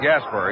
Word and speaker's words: Gaspar: Rod Gasper. He spells his name Gaspar. Pronounces it as it were spelled ER.